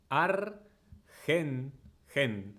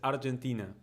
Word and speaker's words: Argentina: most important part hen because everyone in English says Argentina Argentina which like technically in English is correct like you you pronounce the G like that but we don't say